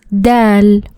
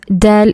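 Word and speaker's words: دال: Next letter is dal. And dal is a light letter. And it's very similar to the letter D in the word door or doll.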